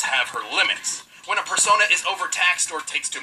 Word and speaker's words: persona: And that's how she became a person user. Persona user. Persona. That's what I said. That's how you pronounce it, This music.